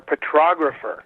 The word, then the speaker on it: petrographer: Get that R in there, petrographer.